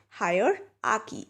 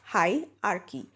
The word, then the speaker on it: hierarchy: pronounce this word so higher Aki and not high are key so when you take